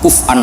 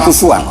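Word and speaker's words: كفؤا: Harusnya qiraah masyhurah itu walam yakullahu kuf'an ahad bil hamzah. Dan rata-rata qiraah sab'ah bacanya, qurra sab'ah bacanya walam yakullahu kuf'an, bukan kufuan.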